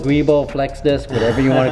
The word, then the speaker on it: guibo: Yeah, so it's pronounced jubo, guibo, flex disc, whatever you want to call it, guys.